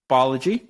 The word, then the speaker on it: Balaji: I always want to say Balaji, but it's Balaji. Right? I think either will work. Like how you pronounce it says more about where you're from than what he wants it to be.